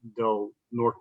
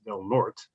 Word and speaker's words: Del Norte: when the northern counties is not del norte it's del norte that's that's just how